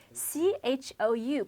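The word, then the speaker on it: 抽: CHOU pronounced with the first tone, which is a high and flat tone, sounds like cho, cho. It means slap.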